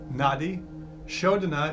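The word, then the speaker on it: Nadi Shodhana: known as the N shoda breath n shoda it's spelled n a d i nadii shoda is s h o d h a n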